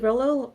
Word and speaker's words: Rolo: Hi, I'm Rolo. Um I'm What? Who the Who the hell are you guys? What are you doing here? OMG. Rolo rhymes with Lolo.